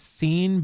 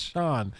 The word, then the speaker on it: Sean: turning and being like his name is scene bean and she's like no it's Sean it's like but it's spelled scene I didn't get it